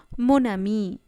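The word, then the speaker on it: mon ami: যেমন মোনামি, এখানে লেখা মো, আমি। এখন আমরা এই মো আর আমিকে একসাথে যোগ করে উচ্চারণ করছি মোনামি।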